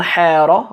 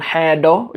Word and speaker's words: Xeedho: One Xeedho with an R, one Xeedho just with a D, and one like sort of somewhere in between Xeedho, which is so I guess all of the pronunciations exist for it.